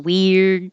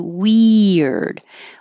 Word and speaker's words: weird: It could just be one syllable, weird, or you might make it about two, weird.